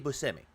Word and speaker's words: Buscemi: And he said, it's Steve Buscemi.